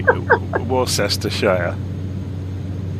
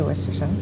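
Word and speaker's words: Worcestershire: Yeah, I think I have a bottle of it in my So, cuz quite commonly you'll hear Americans say warest. No, worshshire. I say Wershire.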